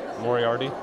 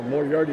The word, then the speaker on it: Moriarty: Moriarty? Yeah, Moriarty, like Sherlock Holmes, like Professor Moriarty.